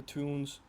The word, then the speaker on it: Toon: they also have the Toons, which is basically it means town, but like it's their local dialect. They would pronounce it more like a toon.